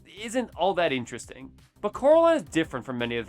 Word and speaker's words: Coraline: of day, let alone even know how to pronounce her name. Caroline. Caroline. Caroline. Caroline. Caroline. Caroline. Caroline. Coraline.